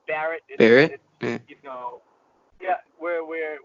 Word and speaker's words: Barrett: wrong but i get a lot of people that try to pronounce it like maybe it's a french word but okay so a lot of people will say barrett or beret or fist or that